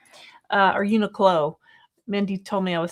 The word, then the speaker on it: Uniqlo: From Uniqlo. Uh, or Uniqlo.